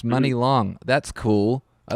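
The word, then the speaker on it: Muni Long: also just did a quick Wikipedia of uh Mooney long and yeah her name is Priscilla Renee Hairston um yeah that's awesome oh it's pronounced money long that's cool I like that yeah there you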